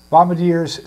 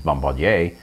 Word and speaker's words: Bombardier: you're a bombardier but the original uh french uh phrase is bombardier and uh when it's a surname you know if if you if you want to be really really pompous about it you pronounce it that way yeah boomings in baghdad